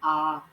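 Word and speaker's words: honour: जैसे एन आर, तो यहाँ पर एच साइलेंट है।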